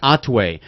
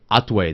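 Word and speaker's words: Hatuey: like that Cuban beer it's pronounced Atway there's a 0% chance that any Gringo uh that it doesn't have a Cuban wife is going to say atwe they say hatou thank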